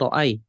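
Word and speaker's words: رأى: Tapi cara bacanya juga bukan ro'aya, tapi ro'a. Panjang.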